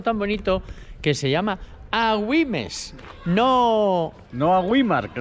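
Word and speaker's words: Agüimes: esta vez esta vez wimes a wimes con la u con la diéresis a wimes y un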